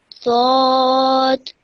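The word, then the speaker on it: ض: Zod. Okay. Bit more thicker. Dod. Zod. Much better.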